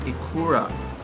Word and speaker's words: ikura: Correction, ikura. I don't know, I think I went through a couple different pronunciations. Ikura. Switch.